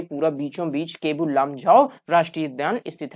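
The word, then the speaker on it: Keibul Lamjao: राजस्थान में गिर नहीं है, महाराष्ट्र में रणथंभौर नहीं है, मणिपुर में केबुल लामजाओ, हाँ ये क्या है? इसमें कीबुल लिखा हुआ है, जबकि सही क्या है? प्रोनाउंसिएशन में केबुल लामजाओ राष्ट्रीय उद्यान कहाँ स्थित है?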